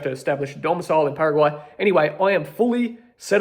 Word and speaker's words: Paraguay: And so, I like to say it like that in a Spanish way, Paraguay. I went to Paraguay and I decided to set up my personal income tax there.